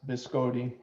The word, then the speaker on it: biscotti: So I told you the word biscotti, which I believe is more correctly pronounced biscotti, means twice baked.